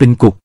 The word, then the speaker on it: គុក: อักษร เขมร ให้ ดู คำ ว่า คุก เขียน ด้วย คอ ควาย แต่ ออก เสียง เป็น กุก คำ แปล นี้ หมาย